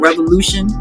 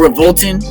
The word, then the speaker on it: RVLTN: It's called Revolution or Revolting, however you want to say it, because it's RVLTN. That's how it's spelled.